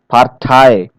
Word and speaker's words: Partei: So here many foreign loan words, usually of French origin, okay, they stress the final syllable as in the source language.